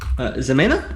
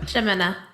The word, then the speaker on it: Zemena: Zonder murders and scares things, and Zemena? Is that how you say it? Shemena. It's like it's SH instead of like a other.